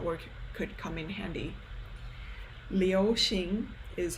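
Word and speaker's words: 流行: Liu Xing is how you pronounce it.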